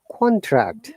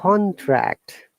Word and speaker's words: contract: Contract. Mm, Look at the stress answer once again. Monica and Susie, please be careful about this, stressing of double syllables. mhm. Contract, Contract.